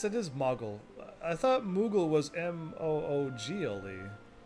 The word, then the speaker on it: Moogle: two o's or were we just always pronouncing it moogle and it always has been modeled because i know what mog i would say mog is mog right there but i wouldn't i would never say mogul because it sounds like